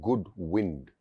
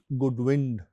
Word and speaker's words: Goodwind: Again, as both of you know, we get asked, and we also battle this mispronunciation of the name as Goodwin. But actually, it's Goodwind Moto Tours, and it's Goodwind is an old sailor term.